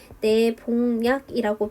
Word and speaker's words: 내복약: 그런데 이 내복약 같은 경우에는 니은이 첨가가 돼서 내복약이 된 다음에 그냥 끝나는 것이 아니라 뒤에 있는 니은의 영향을 받아서 최종적으로는 내봉약이라고 비음화까지 되죠.